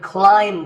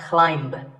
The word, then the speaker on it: climb: If I had a ladder in front of me now, I could climb the ladder, not climb.